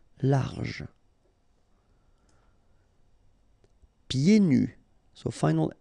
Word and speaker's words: pieds nus: So final S here and then final S here is not pronounced. And then when you get this combination here, it's yé, pied. Okay, so you don't hear the D. Pieds nus.